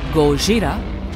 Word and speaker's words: Gojira: Godzilla, or Gojira, as it's pronounced in Japan, has been a popular